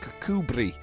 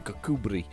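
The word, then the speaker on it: Kirkcudbright: a place in Scotland called kakubri um however it is spelled um cook bright how does that even get close um it's a good name though but it's rolls on the tongue kakubri um yeah it's not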